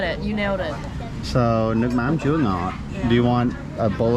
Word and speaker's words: nước mắm chua ngọt: Nước mắm chua ngọt. So you got it. You nailed it. So nước mắm chua ngọt.